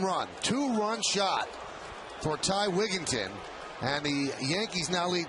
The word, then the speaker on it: Wigginton: Here's Ty Wigginton. Wigginton, right? Not Wigington. Very highly, widely mispronounced name.